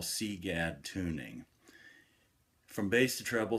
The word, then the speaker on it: CGAD: sea bass tunings plus C GAD rhymes with egads which is probably what